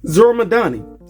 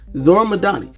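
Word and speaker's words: Zohran Mamdani: Zoramadani. Sorry, I did not want to mispronounce his name, so I made sure I'm pronouncing it right. Zoramadani.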